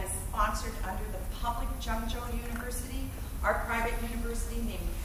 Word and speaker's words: Zhengzhou: Pronounce your university. It's Zhengzhou. Zhengzhou.